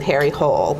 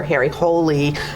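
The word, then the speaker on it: Harry Hole: very long series with Harry Cole or Harry holy I guess is the right way to say it but anyway this is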